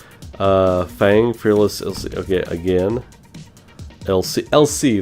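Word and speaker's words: l'Cie: LC, that's how you say it, the LC.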